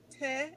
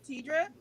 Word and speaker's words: Tedra: wrong this whole time because i pronounce it ted and not tedra so you said you